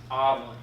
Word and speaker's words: amillennialism: Not amillennialism, amillennialism. I used to call it amillennialism. I thought that was how you pronounce it.